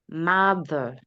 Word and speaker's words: mother: Mother. Past. Not make the O sound in mother. Do not make it long.